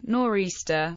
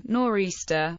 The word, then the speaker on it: nor'easter: a translation of Aristophanes the term norista naturally developed from the historical speakings and pronunciations of the compass points in the direction